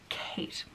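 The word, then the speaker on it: Khaite: dress or quate Kate I think it's pronounced k h a i t e Kate let's go with that and okay right I'm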